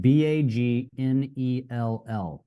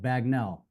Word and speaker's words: Bagnell: It's spelled Bagnell, Bagnell. So as a someone who speaks English, I spoke it the way it's spelled, Bagnell, but it's pronounced Bagnell.